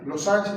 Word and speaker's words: losange: Losange es una palabra francesa. Se escribe losange con G de gato.